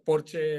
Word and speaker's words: Porsche: Porsche es porque eh Por cierto porche es la pronunciación en alemán no porche el que el